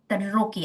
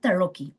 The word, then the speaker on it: Tarocchi: Tarocchi, I think that's how Italians pronounce it, Tarocchi.